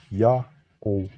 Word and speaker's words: Yao: The first glyph is read as Ya. The next glyph is a vowel placeholder, only treated as silent, and the terminal W is a matter O vowel. Thus, it's read as Ya-O.